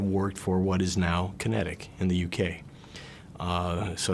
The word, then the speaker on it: QinetiQ: okay the name of the company is kinetic north america uh it's spelled with a q at the beginning capital q at the beginning and a capital q at the end and it's a to